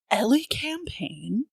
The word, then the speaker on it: Elecampane: So, yeah, as I said, it is pronounced Ellie Campaign aka, and we have some fun ones, but they're not too wild.